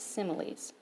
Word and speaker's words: similes: is called a simile it looks like the word smile if you take this out looks like smiles but this word is pronounced similes similes use the words